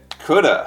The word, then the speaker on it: Coulda: the crazy pronunciation of CA Shoulda Woulda how do we get CA from could of or Shoulda from should have or what of from